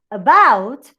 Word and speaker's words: about: For example, when I have to think about a word as about, I can think that about in you have an unstressed syllable, but in bout, the movement of the pitch goes high.